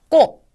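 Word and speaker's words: こ: 자, 그러면 마지막으로 코를 보겠습니다. 코라고 하는 것도요. 단어의 첫음에 쓰였을 때는 코 하고 발음을 하시고 첫음이 아닐 때는 꼬 하는 식으로 발음을 하시면 되겠고 글자를 쓰는 방법은 다음과 같습니다.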